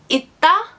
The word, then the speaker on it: 있다: For example, 있다 doesn't carry over any sound because, well, there's the d sound right next to it, so it's kind of hard to.